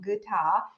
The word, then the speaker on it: Gita: want to underline that you pronounce my last name guta beautifully so thank you for